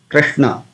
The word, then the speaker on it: Krishna: So when you pronounce Hare Krishna Mahamantra, we come across this Krishna, Krishna, Krishna. So Kri, Kri, soft. We don't say Kri. It's not Krishna. It is Krishna, Krishna.